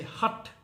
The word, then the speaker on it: Hatha: around the word itself hath you know that's how you would say it in english but if you were to pronounce it in sanskrit okay or in a more uh indonesia sort of pronunciation you you would say hut which basically means stubborn